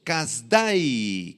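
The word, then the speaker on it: Kasdai: Casday. Casday con acento en la A y al final.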